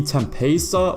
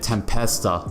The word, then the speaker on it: Tempesta: Let me know if you call it the Tempesta or you put like that, I guess the Spanish sounding pronunciation of it, Tempesta.